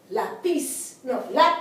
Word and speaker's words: lápiz: It should be on the last syllable because it ends in a consonant. We have the word lápiz.